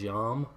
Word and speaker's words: Yom: do these things, but the word for day in Hebrew, if I say it correctly, is Yom, as in like Yom Kippur.